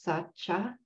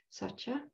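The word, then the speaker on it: sacca: Dharma this is called Sacha s-a-c-c-a it's the the second C is pronounced like CH so it's Sacha Sacha and truthfulness shows up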